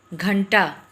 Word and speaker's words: घंटा: जैसे घंटा, घंटा जब हम उच्चारण कर रहे हैं तो न का उच्चारण इस घ के बाद आ रहा है, तो हमको यह अनुस्वार कहाँ लगाना है, इस घ के ऊपर लगाना है। घ न टा, घंटा।